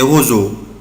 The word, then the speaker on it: roseaux: les roseaux roseaux القصب roseaux طبعا لسه أنا برضه نطقها يا أولاد نطقتها زد autrefois Rami prend son fusil et tire sur les roseaux.